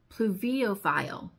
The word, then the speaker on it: pluviophile: The eighth most beautiful word in the dictionary is a noun, and it is spelled P-L-U-V-I-O-P-H-I-L-E, and it is pronounced pluviophile, and it means a lover of rain, someone who finds joy and peace of mind on rainy days.